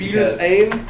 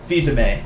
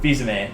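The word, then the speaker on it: Fils-Aimé: let me repronounce that for you. Fils because Aime? It's no, it's Fils-Aime. Fils-Aime? Fils-Aime.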